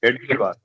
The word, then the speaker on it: Hedgewar: Science Hedgewar. Yeah. Hed, It's pronounced Hedgewar.